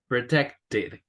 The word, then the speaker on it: protected: Protected. Protected. Very good, Alison. Okay, here we pronounce ED because we have a T.